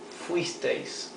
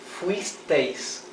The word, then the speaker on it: fuisteis: Vosotros fuisteis, for you were, plural. Fuisteis, fuisteis, 2 syllables.